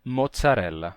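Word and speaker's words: mozzarella: no português atual bem Vocês sabem que em italiano e eles têm o som de T né que aparece em palavras como Palazo grcia e mozzarela bem acontece que esse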